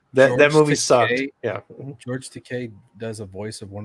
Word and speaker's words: Takei: Is it George Takei? Takei. Yeah. Oh, I don't fucking know. No, isn't it? It is because he often says my name rhymes with gay.